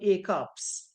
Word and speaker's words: ACOP: It's called ACOPS. It's pronounced as an ACOP, page 9.